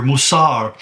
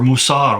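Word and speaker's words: מוסר: The Hebrew word here, Mousar, is interesting because it kind of rhymes with guarded well further in the passage, which is natsar.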